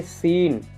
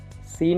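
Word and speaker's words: scene: यहाँ पे देखिए सीन, सीन में भी आपके यस के आगे यस सी आ रहा है, यस के आगे सी आ रहा है इसलिए हम सी का उच्चारण नहीं करेंगे।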